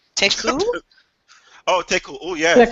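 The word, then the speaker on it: Tecău: Teku. Oh, yes. Teku.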